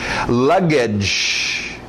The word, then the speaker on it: luggage: Luggage, aquele no final, luggage, igual orange, strange, luggage, baggage, mesma coisa, luggage, baggage, sinônimos aí.